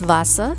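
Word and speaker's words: Wasser: behind me is das vasa that's how you say the water of deutsche das vasa okay it's spelled w-a-s-s-e-r and that's preceded d-a-s-w-a-s-s-e-r das vasa that's vassa is groon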